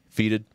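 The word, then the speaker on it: Fetid: How does he say it? Feated. He says he calls it Feated? Yeah. Oh, I've been saying it wrong this whole fucking time.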